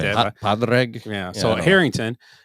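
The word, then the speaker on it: Pádraig: My good is this how Predrag? Is how you pronounce his name? Predrag Harrington? I think so. Is that he looks like Right. that? Padraig.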